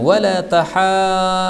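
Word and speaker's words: ولا تحاضون: Kemudian Allah mengatakan wala tahadduna. Ini cara membacanya sampai 6 harokat.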